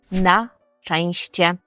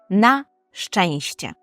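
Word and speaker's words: na szczęście: - це на щастя і польською ми говоримо наченще На ченще дуже важко це вимовляти Я знаю але постарайтеся на щенще нащенще використовуємо це у реченні нащенще здонживам на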